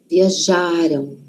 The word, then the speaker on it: viajaram: Onde está a sílaba forte? Já. Viajaram. Lembra que passado é antes, não é? Passado está antes da gente. O passado, então, a sílaba tônica, a sílaba forte, está antes. Viajaram. Viajaram.